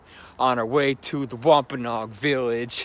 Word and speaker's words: Wampanoag: We're walking in the woods on our way to the Wampanoag village. Or is it Wampanoag? I've heard it pronounced both ways, but I think Wampanoag sounds better.